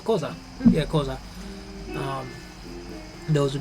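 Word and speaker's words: Xhosa: Zulu uh STI um kosa thank you no no it's kza yeah kza um those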